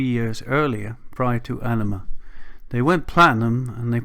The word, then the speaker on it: Ænima: Now, the title of the album is basically Ænima. It's pronounced that way.